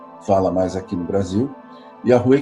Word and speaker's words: Yahweh: aqui é Yahweh, ou Yahvé, como a gente fala mais aqui no Brasil. Yahweh, quem fala mais são os falantes de inglês, e é a pronúncia mais correta, no meu entender.